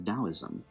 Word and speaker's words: Daoism: Now, the next religion we are going to place on today's tier list is Daoism, which, despite being spelled like Taoism, is in fact pronounced with a D, not a T.